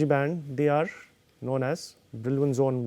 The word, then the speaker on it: Brillouin: So, Brillouin is not the precise pronunciation of this word, this is a French name, but still for the sake of better sort of understanding, I will use the Brillouin pronunciation.